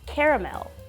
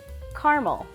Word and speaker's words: caramel: we actually have two ways to say that in the u.s caramel caramel so i actually lived in different parts of the u.s so depending on where i lived i would hear two different forms of the word caramel which i think i say caramel more often but you will also hear people say caramel instead of caramel and it's a big debate in the u.s which one is more correct but i personally say caramel